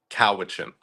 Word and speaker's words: Cowichan: Am I pronouncing this right? Cowichan Valley. Cowichan.